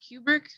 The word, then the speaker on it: Kubrick: But at the same time, with most of that director's films, it's Stanley Kubrick. Yeah. Am I pronouncing that correctly? Yeah, that's right.